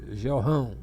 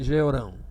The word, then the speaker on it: Jeorão: Outros chamam Jorrão ou Jeorrão. Então a gente pronuncia aqui Jorão e o outro é Jeorão, tá?